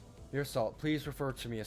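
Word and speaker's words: Meursault: How do I even pronounce that? Mir salt. Mir salt.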